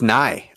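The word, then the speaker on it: Nighy: have Victor himself who's I can never pronounce his last name it's it's nigh I extensively researched this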